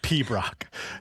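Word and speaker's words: piobaireachd: E A C H D, but it's pronounced P Brock.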